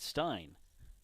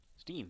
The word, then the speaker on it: Stein: be the catcher Rett Stein Steen excuse me Steen it's spelled Stein but it's pronounced Steen like Frankenstein popped up